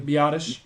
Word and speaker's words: Biadasz: And that's what I don't think how do you pronounce his name? Biadasz.